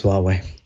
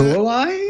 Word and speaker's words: Huawei: It looks like the British phone company has dropped Huawei phones from its 5G network launch lineup.